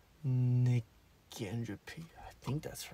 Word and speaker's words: negentropy: How to pronounce negentropy. I think that's right. I hope it's right. I should look it up. - "Negentropy". - "Negentropy"! OK. I was right about the "gen". I got that feeling.